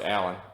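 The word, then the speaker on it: Alain: I think it's pronounced Allen, A-L-A-I-N, which I've never seen that spelling before, so I apologize if I'm mispronouncing the name.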